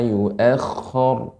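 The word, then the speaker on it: يُؤَخَّرُ: Kha-nya lebih banyak lagi sifat atau pengucapan kha. Nah, ini sifatnya ada garukannya. Kha, jadi ala yu'akhkhar. Kha-nya lebih diperbanyak. Karena ini tasydid.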